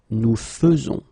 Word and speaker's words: faisons: a surprise, but then the most difficult thing that you should keep in mind is the way you will pronounce it, because you don't pronounce it e as normally you should, but you will pronounce it like e. Nous faisons. Okay, it's really fe, fe, fe. Nous faisons. Okay, you see it with e, but then you pronounce it fe.